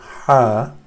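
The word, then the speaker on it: حاء: J G then is the letter ha and this is some people mistake it as the letter H in English the letter gauge in English has a different sound this hat is very specific to Arabic language its sound source is somewhere here on the top of the throat ha and we will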